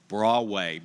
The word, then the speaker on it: Broadway: of the state but it's called Bradway Bradway Bradway Baptist church so Mr President we're